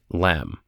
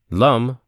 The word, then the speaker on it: Lam: Lum rhymes with thumb is the seed mantra of the earth aspect which in most chakra visualization practices is set up in the mulahara.